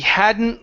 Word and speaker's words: hadn't: So remember, when you have an N, T, and L, those kind of all mix together. And because of that, we're really going to leave out the T.